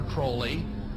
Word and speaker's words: Crowley: about was aliser Crawley he likes to have his name pronounced Crowley to rhyme with holy and uh the satanists